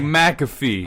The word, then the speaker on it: McAfee: earlier this week yeah he was like it's like McAfee I the antivirus I kept saying macro we literally sat there